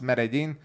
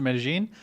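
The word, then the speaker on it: Medellín: John Knox says, what is the correct way to pronounce Medellin?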